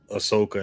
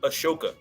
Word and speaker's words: Ahsoka: yeah when it's like Ahsoka and stuff came out like that was bad that made no sense you you said it wrong it's a a shoka my apologies well